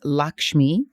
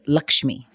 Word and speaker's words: Lakshmi: nickname, and my birth name is Lakshmi, or also pronounced Lakshmi.